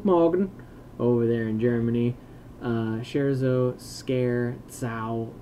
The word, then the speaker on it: scherzo: Scherzo, scare, zau, it's Italian, the Z is pronounced like a pizza. Cool. Well, scherzau. I see. Scherzo.